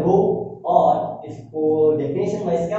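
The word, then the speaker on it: ρ: ये रो होता है, पढ़ा जाता है, प्रोनाउंसिएट करते हैं रो, और इसको डेफिनेशन वाइज क्या बोला जाता है, रेजिस्टिविटी।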